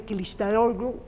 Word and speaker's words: Kılıçdaroğlu: Bueno, me es difícil pronunciar el apellido de este hombre, Kılıçdaroğlu, Kemal, digo, el líder de la oposición, pero la también... G es como una H muda.